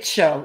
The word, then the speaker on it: TCHO: Just say cho. It's like the first syllable.